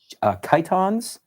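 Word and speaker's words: chiton: we have are three different things they're called Kiton peploes and Hons that's how you pronounce them actually I didn't think it was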